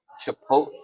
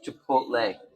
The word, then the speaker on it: chipotle: be teaching me um chipot what you call that chipot chipot it's Chipotle it's Chipotle it's not spelled that